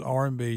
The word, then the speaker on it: Arby's: chose the name Arby's the pronunciation of the letters R&B short for rapael brothers okay so the roast